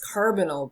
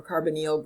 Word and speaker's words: carbonyl: And we're going to see what's probably the most important way to classify them is this carbonyl group, or carbonyl group, depending on you want to pronounce it that way.